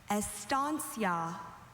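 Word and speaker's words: estancia: Estansia. Are there any alternate pronunciations?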